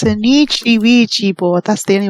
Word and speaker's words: Nietzsche: To be fair, Nietzsche's not how you pronounce it either. It's Nietzsche.